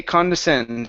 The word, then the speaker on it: condescend: the word condescend okay condescend so this is uh the stress the main accent is going to go at the end of the word okay but it's like